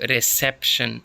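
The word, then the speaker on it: reception: हैं तो रिशन तो रिसेप्शन रिसेप्शन तो रिसेप्शन इसमें सेकंड पर है पहले वाले में कंपैरिजन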